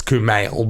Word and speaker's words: Kumail: And I'm sure we say his name wrong. It's Kumail, but either way, we absolutely adore him, and this is perfect for him.